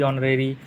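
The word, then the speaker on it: honorary: Honesty, ऑनरेरी, एयर, आवर, इन सब में H silent होता है।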